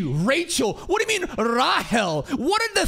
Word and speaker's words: Rahel: What do you mean, Rahel? Where did the C go, bitch? You removed the C and put a fucking dash in there. Rahel? Rachel, dude. Come on. Rahel, she literally taught him how to read, right?